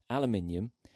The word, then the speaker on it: aluminium: Now, this has been spelled aluminum, but we'll say it correctly. Aluminium, ceramic, glass, or lucite?